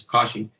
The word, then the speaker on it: Kashi: once so this time i'm introducing you this kashi and that's where lord shiva is supposed to